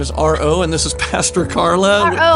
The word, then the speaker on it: RO: It's initials. not like Arlo. Right. It's not like someone it's not A-R. Someone did ask me how to spell it once, and I said R-O.